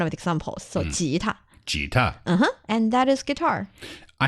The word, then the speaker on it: 吉他: Jita.